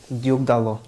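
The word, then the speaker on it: Diogo Dalot: Diogo Dallo.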